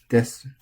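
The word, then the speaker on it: です: Desu. Same deal with all these. It's accented. Desu. But because this vowel is often not pronounced, it's often just a des.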